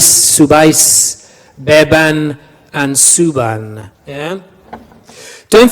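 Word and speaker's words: subáis: What does that accent do? Yeah, it puts the stress on the ending, doesn't it? Bebais, subais. Yeah, it puts the stress on the final syllable, which happens to be the ending.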